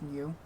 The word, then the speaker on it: Gnu: King new king gnu I assume it's called It's pronounced new um and I'm not